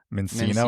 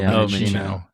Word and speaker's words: Minccino: I was glad to see Minccino on there because I see a lot of people call it Mincino, and it's like, no, it's based off of Chinchilla, right? So Minccino.